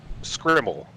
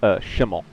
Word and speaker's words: Schimmel: And in the final position, the angry idiot, Derek Scrimmel, out of California in the 96 car. I believe it's pronounced Schimmel. I'm sorry. It just popped up on my screen. It's a common mistake.